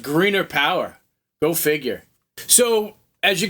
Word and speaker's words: Grener Power: It's actually pronounced Greener. They actually corrected me, by the way. It's pronounced Grener Power.